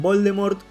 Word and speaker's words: Voldemort: Según la escritora, la T en Voldemort es muda, tal cual la palabra en francés para decir muerte, la cual es Morp.